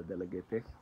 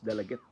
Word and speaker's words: Dalaguete: So sakto di ko nung pagkalitok ani is dalagit dili dalagete. Pero nasa uban mo ingon na ang dalagete ang proper pronunciation parehag dumagete.